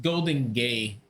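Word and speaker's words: Golden Gai: It's pronounced golden gay.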